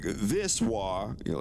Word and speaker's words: は: So this little guy, this is a ha, but it's pronounced wa when it's a particle.